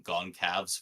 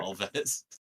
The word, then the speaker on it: Goncalves: I've been calling him Goncalves for like 4 years before realizing it sounds was about right. Gonsalves because I'm super white.